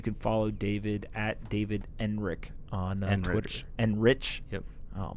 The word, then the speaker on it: Enrich: So, but because some people, when they pronounce their own name and it ends in CH, they say K. Yeah, no, I get it. And you say Enrich.